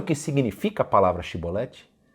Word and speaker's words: Shibolete: Você sabe o que significa a palavra Shibolete? É uma espiga de grãos. É uma espiga de grãos. Por essa palavrinha, Shibolete. Se ele dissesse Sibolete, sem conseguir pronunciar corretamente a palavra, prendiam-no e matavam-no no lugar de passagem do Jordão.